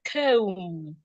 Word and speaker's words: comb: For example, if I have the word comb, the B in that word is not sounding B. Instead, it is silent.